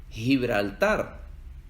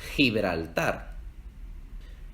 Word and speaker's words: Gibraltar: En América Latina, cuando va antes de una E o una I, la G se pronuncia como G. Gente, Gibraltar. Pero en España se pronuncia más gutural, más desde la garganta.